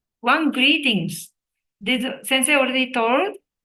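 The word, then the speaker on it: と: to one and two to t o but th o sound right to so one and two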